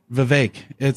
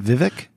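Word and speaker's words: Vivek: did you call him V it's like it rhymes with cake it's not Vivic no it's VI do you know this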